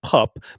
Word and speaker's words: pap: So, it's pronounced pup, but it it's spelled like pap, but it's pronounced pup, but it's neither here nor there.